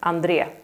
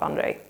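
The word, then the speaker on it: Andrée: So Andree in Swedish, not Andrei.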